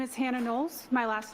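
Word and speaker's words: Knowles: My name is Hannah Nolles. My last name is spelled K N O WLE S.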